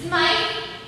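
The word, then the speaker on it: Smythe: you don't know it that's arthur's smile smite what how do you spell it s-m-y-t-h-e why leonora that's the same as smith isn't it oh that's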